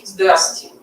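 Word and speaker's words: здрасти: And if you're more friendly terms with someone, you say zdrasti.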